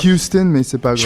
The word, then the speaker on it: Houston: Tu me dis Houston, si Texas, je me trompe un peu sur la prononciation. On dit Houston, mais c'est pas grave.